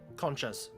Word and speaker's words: Concha: it's Concha, like the shell, Concha, like got it.